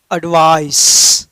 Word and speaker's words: advice: तो ये होनी चाहिए, तो साहब इसको पढ़ते हैं एडवाइस।